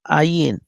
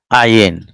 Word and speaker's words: ayin: Ayin. Okay, ayin. Mm. Like a Y. No, ayin. I will write again. No, okay, ayin.